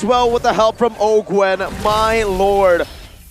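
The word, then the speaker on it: Owgwen: Ogwen going to be chunked by Iman right now,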